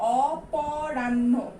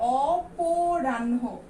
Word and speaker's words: অপরাহ্ন: এখানে যদি আমরা বলি অপরাহ্ন, কিন্তু আমরা উচ্চারণ কি করি, অপরাহ্ন, তাহলে ওকার হয়ে যাবে, তারপরে কি আছে,